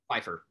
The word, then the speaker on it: Pfeiffer: Pfeiffer. Yeah, tell me about him and his style, and how was he on the set? What kind of director was he? Is he an actor's director? Pfeiffer is a really great guy, and he had